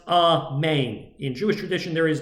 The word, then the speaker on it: amen: original an actual word according to jewish tradition is pronounced a man in jewish tradition there